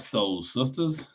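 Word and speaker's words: Sole Sistas: And we got Soul Sisters, SOLE. Yes, I'm pronouncing it because sometimes y'all might want to know how to spell it.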